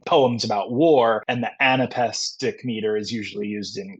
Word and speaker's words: anapest: Whereas the anapest is two unstressed syllables followed by a stressed syllable.